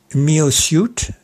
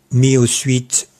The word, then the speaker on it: MyoSuit: En effet, MyoSuit, M-Y-O-S-U-I-T prononcé à l'anglaise et MyoSuite en français, c'est le nom du